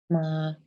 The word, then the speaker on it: 妈: The right part is a sound radical, pronounced ma. So you can think about what's this character? The pronunciation is similar to ma, but the meaning is related to a woman.